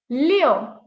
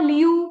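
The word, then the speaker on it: 六: Leo. It's not Liu. Please don't say Liu. It's Leo. Oh, open your mouth. Leo. Leo.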